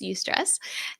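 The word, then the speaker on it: eustress: called UST stress that's e u St ESS you stress and that's the good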